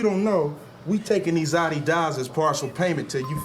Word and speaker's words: Adidas: You know, for years, I thought this dude was just calling the shoes Adidas to be funny. And I used to say it all the time just to be silly, until I realized that was actually the correct way to say the name of the shoes.